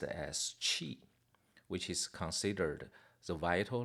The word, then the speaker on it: qi: It pronounced as qi, which is considered the vital life forces or energy that flows through the body.